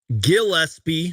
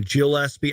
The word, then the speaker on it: Gillespie: Now, I always get this last name wrong. Gillespie. Someone corrected me in the comments recently about that. I was calling him Gillespie.